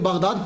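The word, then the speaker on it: بغداد: आप बगदाद की तरफ रवाना हो गए। ये जो बगदाद है ना ये असल में इसका प्रोनाउंसिएशन बागदाद है। लेकिन कसरत इस्तेमाल की वजह से अली गिर गया। अलफ गिर गया।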